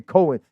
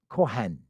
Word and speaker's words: Kohen: That's why you see Jewish people today say they're Cohen. Their last name Cohen. No, say it like it's supposed to be. Kohen.